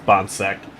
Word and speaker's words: Bonck: loves saying the broadcast pronounced my last name wrong again it is bom but uh that's all